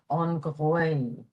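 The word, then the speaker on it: an ghaoth: You have to throw an H in there after the G, so it's spelled G-H-A-O-T-H, and the pronunciation is on gwaoth, on gwaoth.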